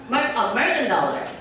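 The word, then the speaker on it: Mergendoller: John, I don't know how to pronounce properly your surname. Mergendollar? Mergendollar.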